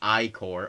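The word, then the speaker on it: ichor: triple chalice I can fill it with magical iore that's pronounced iore okay okay choose your Echo wisely um become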